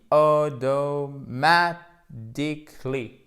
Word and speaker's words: automatically: Accent tonique primaire, accent tonique secondaire, le te qui devient presque comme un de ici, voyelle longue, donc automatically. Et ici, vous terminez, en fait, ça se prononce comme un I court.